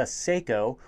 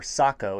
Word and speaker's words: Sako: to review for you that's the seiko or sako if you want to pronounce it correctly s20 hybrid hunting and